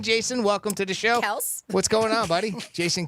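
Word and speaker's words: Kelce: They said it's just Kels. Have you heard that? Oh, yes, I have heard yeah, that. Kelsey. Yeah, It's apparently. supposed to be Kels.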